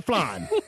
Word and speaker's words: flan: Not the flan. Pronounced F-L-A-A-N-N. It's a type of dessert. Flan. Nah, no, no flan. Flan I put no. the pronunciation this way so you don't get a group of Cuban assassins waiting for you, waiting to kill you when you get here.